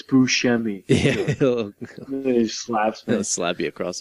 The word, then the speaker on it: Buscemi: yes oh my God your Steve Buscemi and he'll be like no it's buschemy slap's gonna slap you